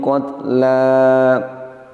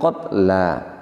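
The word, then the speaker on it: الْقَتْلَى: Ketika wakaf tidak boleh kita wakaf dengan mensukun huruf lam. Demikian, ini yang tidak pas. Ya ayyuhalladzina amanu kutiba alaikumul qisasu fil qatl. Yang betul tetap kita baca fil qatla. Apa sebab? Karena huruf terakhirnya bukanlah huruf lam, tapi huruf terakhirnya adalah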